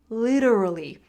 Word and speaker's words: literally: It's that D sound, literally. And you can do it as well. Think about the T as a D, literally.